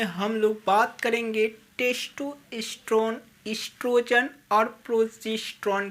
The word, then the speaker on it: oestrogen: एस्ट्रोजन देखिए, वो जो होता है आपका इसमें साइलेंट होता है, लिखा जाता है ओ से, लेकिन इसको पढ़ा जाता है ई से।